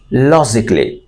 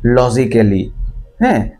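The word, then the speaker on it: logically: ইউ আই বেসিকউ লজিক লজিকলি listen and repeat of লজিকলি আমরা যে ওয়ার্ডটাকে বলতাম যুক্তিসংতভাবে আন অনেকেই এটাকে মিসপ্রনাউন্স করতেন যে লজিক্যালি লজিক্যালি এটা আসলে লজিক্যালি না লজিকলি spell down for ইউ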